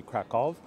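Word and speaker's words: Kraków: krackow I'm gonna say krackow I'm gonna stick to my English pronunciation um though if I were to pronounce it in the proper polish it would be kov I'm going to say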